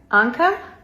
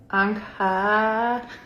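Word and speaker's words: ankaa: Anka. It's a double A, so you stretch it. Anka.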